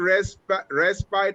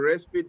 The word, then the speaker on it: respite: See, it's pronounced either respite or respite, depends on if you live on the east or west side of London.